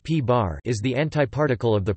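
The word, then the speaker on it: p̄: The antiproton, P, pronounced P-bar, is the antiparticle of the proton.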